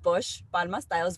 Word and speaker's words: Posh Palma Styles: So the name of the business is Posh Palma Styles, which thank you so much for pronouncing it the way that it was.